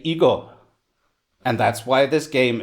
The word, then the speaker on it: Igo: And if you take the Chinese characters you used to write Weiqi, but use a Japanese pronunciation to say them, you say Igo.